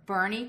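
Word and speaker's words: Boerne: um the street here Guadalupe yes okay or Bernie Texas mhm cuz it's spelled b b o e r n e I'm saying it right we say Bernie right we say Bernie and then um all kinds of different words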